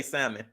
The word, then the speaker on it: salmon: Black Diamond, another one of my members said, don't pronounce the L in salmon. I can't help it, yo. I'm trying. I can't help it. I feel like I'm reading it perfect. Somebody said, just say salmon.